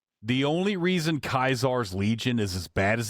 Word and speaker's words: Caesar: But they all said if the guy that was the Kaisar died and I I'm not mispronouncing Caesar. That's what they pronounce. That's how they pronounce it in the game.